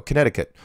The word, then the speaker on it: Connecticut: I'm a Hungarian flat earth believer currently living in Connecticut. Thank you very much, Laz. Oh, by the way, I got to mention, there you go, Connecticut, right? Nobody uses it. That C is like never pronounced.